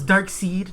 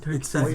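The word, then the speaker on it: Darkseid: ] how they pronounce it's dark seed not dark side oh excuse me no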